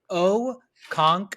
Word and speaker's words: Okonkwo: hard to pronounce so his first name he uh abbreviates it so it's just chig c-h-i-g-chig and his last name is O conk whoa okay so chig Okonkwo I have liked what